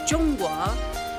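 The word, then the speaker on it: 中国: And Joel asks, how do you pronounce China in Chinese? What a great question. We would say Zhongguo.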